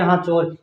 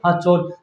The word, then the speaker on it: सांचौर: जैसे आपका जो क्षेत्र है जालोर का सांचौर, सांचौर को क्या बोलेंगे मारवाड़ी में? हाचौर। क्या बोलेंगे? हाचौर। जैसे आपका जो क्षेत्र है सिरोही, सिरोही को क्या बोलेंगे? हिरोई। क्या बोलेंगे? हिरोई। तो इसका स का उच्चारण आपका जो है स का उच्चारण किस में किया जाता है? है में।